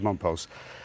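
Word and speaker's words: Mompox: called uh mom post spelled like mom pox but whatever is pronounced mom pose the things I noticed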